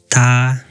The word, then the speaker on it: 他: 他他 I noticed that he or she is the same pronunciation. In China, both is pronounced like ta, but they have different characters.